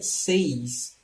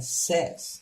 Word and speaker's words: says: Aqui prestando atenção na pronúncia, né, dessa palavra aqui, é says. Muita gente pronuncia says, mas não, é says.